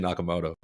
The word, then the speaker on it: Nakamoto: to be Bitcoin inventor Satoshi nakam nakam I can see how these idiots mispronounce it Satoshi Nakamoto we actually only just